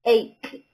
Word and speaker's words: ache: Remember, we don't say H, we say ache. My head aches. My tummy aches. This CH sounds like a K.